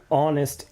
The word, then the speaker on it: honest: if I want a honest answer a honest answer it's this word starts with an H but I'm actually going to use n because in this word